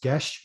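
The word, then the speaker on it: geis: make it more accessible the original title was gesh which is a gaelic word g-e-i-s so it's difficult to pronounce it so it does that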